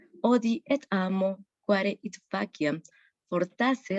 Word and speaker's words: faciam: Por ejemplo, en faciam, no decimos faciam, sino decimos faciam.